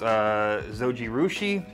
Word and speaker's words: Zojirushi: I think it's pronounced Zojirushi.